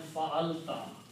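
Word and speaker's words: فعلتَ: combine these 3 and put a ta at the end and pronounce them fa'alta, fa'alta means you did.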